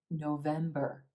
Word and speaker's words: November: in October November November again three syllables in this month emphasis on the second syllable and the add as in red November November our first and third syllables are quicker and quieter and we have that sound at the end November November we celebrate